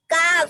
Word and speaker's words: calf: Calf. Baby elephant है, then it's called calf. Now see, इसमें L silent है. very good. It's this is that. L is silent.